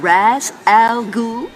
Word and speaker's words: Ra's al Ghul: Now, am I pronouncing this right? Mr. Raz Al Ghul?